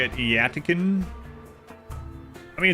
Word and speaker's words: Yttakin: The developers actually came out and said how it was pronounced when Biotech first came out. Yttakin, from the planet of Yttakin. You normally say it Yttakin.